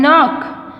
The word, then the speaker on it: knock: is silent here and knock we don't say knock it's not because k is silent here and match stock